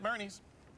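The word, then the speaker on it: Boerne: I'm gonna say burn I'm gonna say that o is silent on this one burn Barney weekend at Bernie's Bernie Bernie I knew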